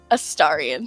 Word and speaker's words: Astarion: Is it Astarion? Astarion. Thank you. Astarion, okay. I not to be an insane, crazy person. Uh-huh. But I am. His name's Astarion.